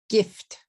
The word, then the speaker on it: gift: okay here's another one gift gift gift gift is one syllable gift if you teach it